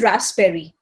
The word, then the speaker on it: raspberry: sp in it it is not raspberry it is raspberry so p remains silent over here.